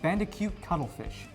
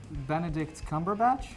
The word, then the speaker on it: Benedict Cumberbatch: Coming up next, Cameron covers Doctor Strange, starring Bandicoot Cuttlefish. No, it's Bombadil Curdled Milk. Isn't it Benedict Cumberbatch? Wait, you said it right.